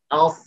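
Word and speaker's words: ص: এই যে জিহ্বার আগা, এটাকে সামনের নিচের দুই দাঁতের নিম্নাংশে, ভেতরের দিকে নিম্নাংশে লাগাতে হবে। এভাবে আমরা সাদ উচ্চারণ করব, আস, আস, আস।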